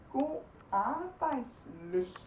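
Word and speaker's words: god arbejdslyst: And then one that I don't think they have in English is god rbejdslyst. God rbejdslyst. This Y right here, we say like ø. Yeah, that's a little confusing.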